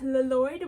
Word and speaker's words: Lloyd: That's right, Lloyd. We say both L's.